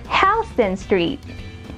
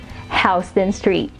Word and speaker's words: Houston Street: So anywho, it's Houston City and the street is pronounced as Houston Street.